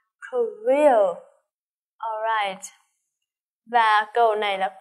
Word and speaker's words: Korea: Nước thứ ba, cầu như thế này, chúng ta sẽ đọc là North Korea. Em nhìn theo cô nhé. North, đưa lưỡi ra. North Korea, trọng âm thứ hai. Korea, alright.